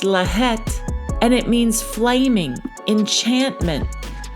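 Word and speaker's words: לַהַט: And for that in the blue letter Bible the Hebrew word is H3858 and it's pronounced laet and it means flaming enchantment flame of an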